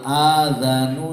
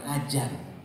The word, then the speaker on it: adzan: Al adzanu siji adzan ya, bukan ajan. Ini sering pengucapannya salah. Adzan, adzal itu memang agak sulit ya, bukan jim, bukan dal gede juga.